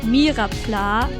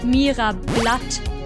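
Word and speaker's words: Myrapla: story some years ago i met someone who thought oddish was not called mirapla but meera blood at first i just found it funny that for his whole life he had been getting that name wrong but on second thought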